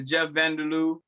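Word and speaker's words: Jeff-Vander-Lou: That's on the Jeff Vanderloo, Tower Grove on the south side, Midtown, and West End.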